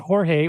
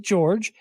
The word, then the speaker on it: Jorge: is spelled like yours he doesn't pronounce it Jorge or Jorge he pronounces it George and he uh he